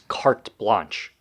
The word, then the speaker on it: carte blanche: Actually, it's two words. And you got both of them wrong. It's carte blanche. You shouldn't be using these words if you don't even know how to pronounce them.